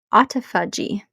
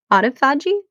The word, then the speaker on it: autophagy: Autophagy. I think that's how you pronounce it. Autophagy.